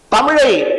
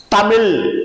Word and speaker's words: தமிழ்: ஏற்படுகின்றன இரண்டாவது தமிழை சில வட்டார வழக்கத்தில் இருக்க கூடியவர்கள் சில பகுதிகளில தமிழ் தமிழ் அப்படின்னு உச்சரிப்பாங்க அப்ப தமிழ் அப்படின்னு ஆங்கிலத்திற்கு ஏற்றார் போல உச்சரிக்கும் பொழுது எழுதும்போதும் தமிழை தமிழ் என்று எழுத தோணும் அப்ப மெல்ல தமிழ் இனிச்சாகும் என்று சொல்வதற்கு ஏற்றார் போல தமிழ் அழிந்து போய்விடும் அதனால நாவினால உச்சரிக்கும் பொழுது அதை சரிவர உச்சரிக்கப்பட வேண்டும் ஒன்று இரண்டாவது கடைக்கு போயட்டு